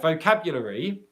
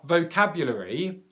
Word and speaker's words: vocabulary: There, vocabulary, is that LR vocabulary, or vocabulary. That schwa is just disappearing.